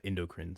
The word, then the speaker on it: endocrine: in here and told me it's the uh endocrine system that's what it's that's how it's pronounced the endocrine system so thank you thank